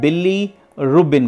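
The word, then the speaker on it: bilirubin: में आता है फॉर्म होके, उसे कहते हैं बिली रूबिन कहते हैं, बिली रूबिन कह रहे हैं यहां पे, बिली रूबिन से ऐसे प्रोनाउंसिएट करेंगे।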